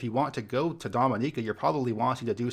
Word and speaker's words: Dominica: so right away I want to say it's pronounced Dominica and not Dominica there is a country called the Dominican Republic but this island is pronounced Dominica this